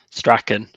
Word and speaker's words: Strachan: But we're going to pick up with, there he is, so British, so handsome, Strahan. And you guys pronounce it Strahan? Strachan. Oh, God, I would never have gotten that.